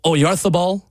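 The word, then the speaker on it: Oyarzabal: Coming off the bench and Mikuel or Oarthabal, the right way to say it. I love doing the lith um is a good striker.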